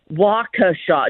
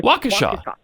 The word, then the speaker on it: Waukesha: no pat right now you're saying it wrong you're saying waka shot no waukesha waukesha okay yeah all right